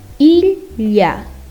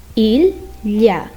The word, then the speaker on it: ilha: There are some different sounds of H too, but when it's with other letters, L with H gives a L sound. For example, ilha, ilha, ilha.